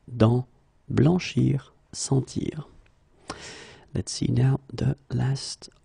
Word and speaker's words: sentir: In many situations, when you practice on your own and when you try to reach this sound, try to make the sound longer, okay, and try to insist.